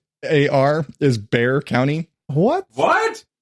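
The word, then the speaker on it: Bexar: e x AR is bear county what what like Bex are I know yeah San Antonio was in bear County but it's bear with an X that's women as though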